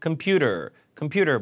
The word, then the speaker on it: computer: 컴퓨터가 아니라 computer 뭐 랩톱으로 물어볼 수도 있고 데스크톱으로 물어볼 수도 있고 뭐 다양해요.